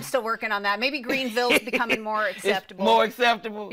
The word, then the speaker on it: Greenville: I realized I was saying it wrong. I'm saying Greenville.